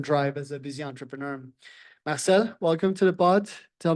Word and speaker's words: Marcel: to be here nice to have someone uh pronouncing my name properly um yeah my name is Marcel as you mentioned I run a company called